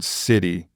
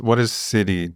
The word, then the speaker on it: Siddhi: What is Siddhi to you? What is that? Yeah. Where did that word come from? And yeah, you have to be careful in America because it sounds a bit like city.